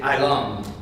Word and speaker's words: Elam: Like, for example, we would say Elam, Hebrew is Elam. So it's a little different as far as how the Hebrew pronunciation goes.